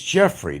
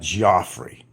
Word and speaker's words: Jeffrey: My name is Jeffrey, not Joffrey.